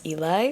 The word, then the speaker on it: Eli: our other character, Eli, or I keep calling him Ellie in my mind, but I'm pretty sure the right way to pronounce his name is Eli.